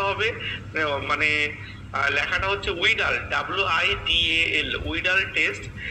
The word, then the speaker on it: Widal: থাকি সাধারণত, সেটা হচ্ছে ভিডাল টেস্ট। উচ্চারণটা হবে মানে লেখাটা হচ্ছে উইডাল, WIDAL, উইডাল টেস্ট, যেটাকে আমরা উচ্চারণে বলি প্যাথোলজির ভাষায় ভিডাল টেস্ট বলা হয়।